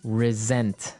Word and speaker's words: resent: said I resent that resent resent okay now this is spelled exactly like resent like with an S right that's right re s e n t but you pronounce it like a z mhm resent resent that